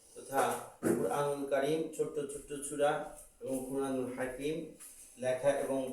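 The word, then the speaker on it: ثاء: এই সাটা নরম হবে, একদম নরম হবে।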